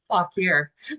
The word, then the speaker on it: Fauquier: Fauquier.